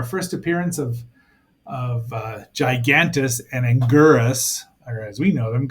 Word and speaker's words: Anguirus: They find one of the monsters, the Ankylosaurus, known as Anguirus. They have a lot of different pronunciations, but Anguillus is right there.